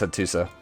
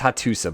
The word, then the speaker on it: Hattusa: I thought that was Hattusa. It's Hattusa, by the way. I always say it wrong.